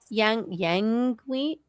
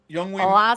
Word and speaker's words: Yngwie: It's Youngwing. Is it Malmsteen? Youngwing Malmsteen? I don't think you pronounce the Y. Yngwie Malmsteen, I'm pretty sure. Is it Yngwie? So you just, the Y is silent?